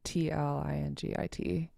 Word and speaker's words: Tlingit: writing English, I use Tlingit. If I'm speaking Tlingit, then I pronounce it and say it with an L.